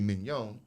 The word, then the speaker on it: mignon: So then when you eat the filet, and as an uneducated black man would say, mignon, but filet mignon, you spell it mignon, right? I pronounce a lot of things the way it's spelled, so I know I don't forget how to spell it. So it's M-I-G-N-O-N, right? But mignon, with the little hyphen over the O, and put that little pizzazz on it, panache on it, right?